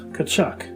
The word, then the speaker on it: Tkaczuk: the team made an announcement on the proper pronunciation of his name correcting the error from years prior walt cachuck ball would play with nhl greats such as